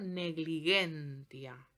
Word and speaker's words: negligentia: La G suena G, sea delante de la vocal o de la consonante que sea. Por ejemplo, negligentia. La J y la I, que